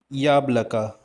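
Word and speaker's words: яблоко: Stress is on the first syllable. Yablaka.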